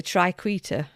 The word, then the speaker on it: triquetra: The triquetra. Triquetra, apparently, is how you pronounce it.